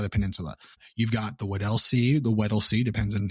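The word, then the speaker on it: Weddell: You've got the wedca the wed sea depends on who you ask how to say it.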